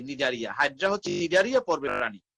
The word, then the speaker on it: Cnidaria: নিডারিয়া বানানটা কিন্তু এরকম, CNIDARIA, নিডারিয়া।